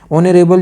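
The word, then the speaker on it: honourable: तो ऑनरेबल की जो साउंड है, जो प्रोनाउंसिएशन है, ये है वोवेल की।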